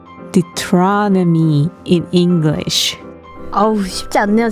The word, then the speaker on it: Deuteronomy: 신명기는 Deuteronomy라고 읽어요. What? I said 신명기 is called Deuteronomy in English.